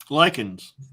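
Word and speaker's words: Lycaon: like Cowan like Colin lichens well the way it's spelled here it's l-y-c-a-o-n oh okay um I guess it's lichen but it's it's like the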